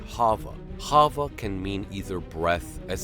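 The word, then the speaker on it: חַוָּה: name Eve we found that Eve is actually pronounced Hava sounding somewhat like Hava Hava can mean either breath as in the Breath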